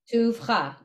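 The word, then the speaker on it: טובך: So the Vav, the Shva, doesn't get its own syllable. It tags on to U. So it is Tubach then. Tuvcha.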